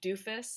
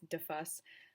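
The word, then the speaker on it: Duffus: scotland and went to i know it's not pronounced doofus it's d-u-f-f-u-s but how funny would it be if it was i'm pretty sure it's defus but doofus is funnier so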